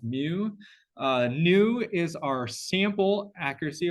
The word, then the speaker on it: mu: thing pronounced new in you this thing here pronounced mu Nu is our sample accuracy our sample average